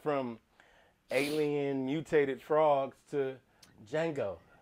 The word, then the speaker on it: Django: alien mutated frogs to django the d is silent the most fun films